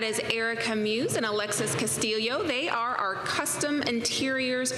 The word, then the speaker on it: Castillo: Erica Muse and Alexis Castillo they are our Custom Interiors coordinators and Alexis I'm pretty sure I just mispronounced your last name so you'll have to correct me Castillo okay thank you I